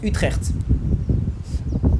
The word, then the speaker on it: Utrecht: voir le centreville d'Utrecht alors je crois que ça se prononce utreer oui alors là vous